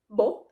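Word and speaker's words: boh: impressive or in italian there is such a nice word that is pronounced as bo that means either i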